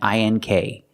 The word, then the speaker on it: ink: We also taught the American pronunciation of ANG and ANK, making the long A sound, like day and say. Ang, ank, like sang and sank.